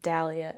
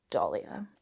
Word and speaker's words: Dahlia: Except that I have to remind myself to pronounce it dahlia and not dolly-a.